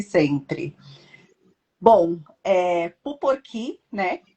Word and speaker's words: Puporkí: Bom, Puporqui, né? Essa é a pronúncia, porque tem um acento lá no finalzinho no i, mas a maioria das pessoas fala Puporqui.